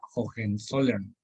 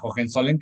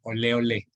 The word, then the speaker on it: Hohenzollern: A final de cuentas, en España no van a elegir a Hohenzollern, que como anécdota también curiosa, en España ese apellido pues no lo podían ni pronunciar, le llamaban el ole ole, como argot así popular coloquial.